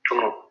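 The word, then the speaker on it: tummo: Maybe just write on Google, YouTube, T-U-M-M-O, Tumu.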